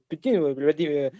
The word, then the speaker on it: Poutine: Ouais, je voudrais seulement prononcer avec le nasal, avec ouais. avec le son nasal. Mais Poutine, par le diable, c'est